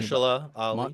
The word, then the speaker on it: Mahershala Ali: Masha what fuck, I can't pronounce his name. Mahershala Ali.